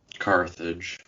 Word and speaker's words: Carthage: is it is carage correct Carthage yes we we don't put the o on it generally oh I see so in English it's correct okay I I just put the I just put the accent on the wrong syllable then oh okay okay